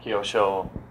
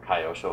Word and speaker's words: Kyosho: know a lot about kosho or Kyosho however you want to pronounce it you kind of think